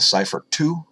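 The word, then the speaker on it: Seyfert: outside it's almost like a cypher - that's spelled s ey fer T cipher - galaxy it's similar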